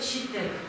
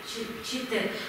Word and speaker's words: читек: Такие ичиги назывались каюлы читек. Читек. Пишем через че, но произносим мягко щи.